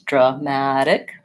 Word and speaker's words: dramatic: have the word dramatic so in the word dramatic our stress syllable stress is on this middle syllable mad so it's dramatic short long short the drop this a the first a says Bausch waa because it's unstressed and then we have vowel ah like in black cat and then we